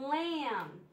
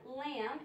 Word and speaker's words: lamb: have the um and lamb the B is silent the B is silent we have the um in lamb and the B is